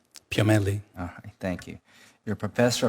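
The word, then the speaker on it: Piomelli: Dani Ellie how do you say your name sir Danielle last name p.m. italy oh thank you your professor of anatomy and neurobiology your University of California Irvine dr.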